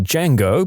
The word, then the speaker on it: Django: I looked at her and said, "The D is silent."